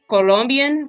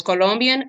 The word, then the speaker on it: Colombia: tell them ver it's Colombian weed Queen so it's Colombian uncore weed uncore Queen so it's not not like how Americans saying Colombia no no it's Colombia so Colombian weed Queen